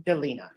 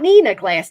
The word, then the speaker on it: Delina: Court is calling 2023 CR 3548, State of Texas versus, how do you pronounce your first name? Delina. Delina. I've been mispronouncing. Delina Glass, right? Not Nina Glass, Delina Glass.